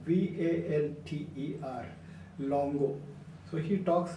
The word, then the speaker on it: Walter: Walter Longo now Walter is not pronounced as wal ter but it starts with a V for victory v al ter long ago so he